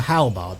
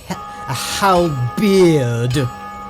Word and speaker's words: halberd: people who calls it how beard like it's got an e in it rather than two A's it is pronounced halberd